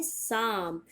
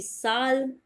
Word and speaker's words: psalm: में ही होता है, इसीलिए इसे हम बोलते हैं साम, न कि साल्म और न ही पसाल्म।